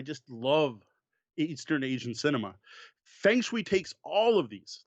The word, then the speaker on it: Feng Shui: Is Feng Shui or Feng Shui or however you want to pronounce it. I'm just going to go with Feng Shui, and yes, I know that's the Americanized pronunciation, by Robin D.